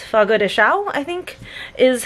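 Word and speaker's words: Fogo de Chão: Brazilian steakhouse and it's Fogo de Chao I think is how you pronounce it the last word is c h a o with a little squiggly over the a so I I think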